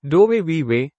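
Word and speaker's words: dove vivi: Doveweave pronounced doe viway means where do you live in what language?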